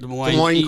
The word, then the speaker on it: Des Moines: Des Moines.